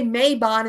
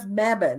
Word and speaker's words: Mebane: uh you know mispronounce if I say may Bond instead of Mebane or something like that